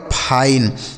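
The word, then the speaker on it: fine: यह लिखा गया आपका फाइन एफ आई एन ई फाइन ठीक है आगे देखिए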